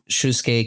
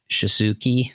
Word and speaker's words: Shusuke: Well, yeah, like I remember like Shusuke Kaneko. I remember I used to pronounce it like Shisuki, I think is how I used to pronounce it.